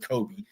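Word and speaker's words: Cobee: did look that up even though it's spelled different c o BB C OE Kobe he actually was named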